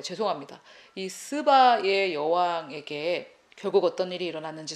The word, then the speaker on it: 스바: 말씀드릴 수 있습니다 자이 시바의 여왕의 아 제가 스바라 발음해야 되는데 영어로 라 속 시바라고 했는데요 죄송합니다이 스바의 여왕에게 결국 어떤 일이